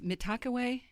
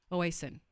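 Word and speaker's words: Mitakuye Oyasin: The other one, Mitakuye, and it's Mitakawe. Yeah, everybody tells me to pronounce this different. Oasin.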